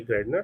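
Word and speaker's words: Gairdner: फॉरमे और lake lake कौन सी lake गाय ग्रनर तो इसको प्रोनाउंस कर लेंगे ले ग्रेडनर तो इतनी सारी चीजें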